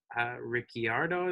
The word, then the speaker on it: Ricciardo: The second one has to be Daniel Ricciardo, is I believe how you pronounce his name.